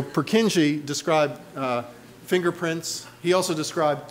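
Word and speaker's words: Purkyně: the second world war so um purkinje who's of course nobody in prague would pronounce his name that way his name is so purkinji described fingerprints he also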